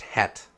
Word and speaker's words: Jet: It is, but it's pronounced het.